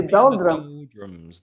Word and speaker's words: doldrums: that you hit and the pronunciation is doldrum so the the r becomes a it's a schwa sound so to be in